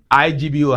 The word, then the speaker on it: Igbo: IGBO, how do you pronounce it? Igbo. Can you say that? Good. Please learn that, okay?